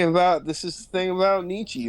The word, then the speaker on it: Nietzsche: this is thing about Nietzsche right is I'm gonna go with the strangers bit for the record is pronounced a Nisha meet you Chad virgin